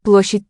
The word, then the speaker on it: площадь: Alright, so it doesn't sound like a ah in that final syllable. It's written with an A letter, Да, площадь там. but it sounds like an I.